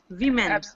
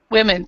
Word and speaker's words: women: prounce it too yeah women women perfect perfect because we have woman and women I didn't want everybody to pronounce it wrong so all right you